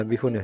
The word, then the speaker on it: Byhun: Bihun ini bener bacanya Bihun ya.